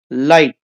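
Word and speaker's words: light: इसको अंडरलाइन कर दिया लाइट लाइट को हम इस तरीके से लिखते हैं लाइट जी इसमें भी नहीं बोल पा रहे हैं तो हम इसको को भी अंडरलाइन करेंगे।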